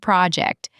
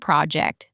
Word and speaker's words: project: You want to say you managed a big project. If you say, JT managed a big project, that's perfect. Stress the verb on the second syllable, the noun on the first.